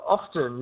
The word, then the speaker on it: often: T it's actually incorrect you always need to pronounce the T often okay it's very